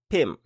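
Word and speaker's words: พิมพ์: La dernière consonne est karan, donc non prononcée, pim. Il n'y a pas de signe de tonalité, la syllabe est vivante puisqu'elle se termine par une sonore, la consonne initiale est basse, donc le ton est plat.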